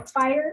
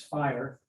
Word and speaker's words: FHIR: to say about fire it's pronounced fire I am CTO of